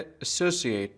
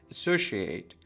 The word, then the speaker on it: associate: دقت کنید این کلمه در لهجه بریتیش به صورت associate تلفظ میشه. یعنی اون سیایی به صورت ش تلفظ نمیشه. ولی در لهجه امریکن میگیم associate.